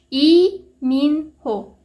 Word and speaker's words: 이민호: 우리 모두가 사랑하는 이민호 씨, 이민호, 리민호가 아닙니다. 이민호가 맞습니다. 왜냐면은 한국에는 리라는 성씨가 아예 없습니다, 여러분.